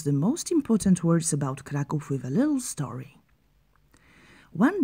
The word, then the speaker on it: Kraków: let us teach you how to pronounce the most important words about kov with a little story one day in the